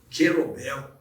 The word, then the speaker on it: kettlebell: Educação Física dá um rejuí e que pratica gelobel Essa é a pronúncia nos introduza nesse assunto que é um